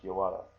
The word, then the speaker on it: yawara: So sometimes when you see that, it's pronounced yawara.